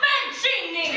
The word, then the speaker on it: Mancini: It's pronounced Mancini!